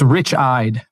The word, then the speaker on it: Richied: just gonna say that it's it's Rich eyed so it's a really bad German time it is not pronounced that way I know it's terrible is it really it is it should be Richie I know but it is actually anglicized during World War One uh it used to